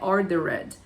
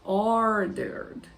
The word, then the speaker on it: ordered: pronúncia deles I ordered lembra do som do Ed gente que a gente não pronuncia normalmente Então não é ordered é i ordered a sandwich with a